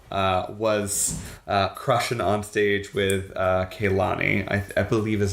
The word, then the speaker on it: Kehlani: And that's that Demi Lovato was crushing on stage with Kehlani, I believe is how you say her name,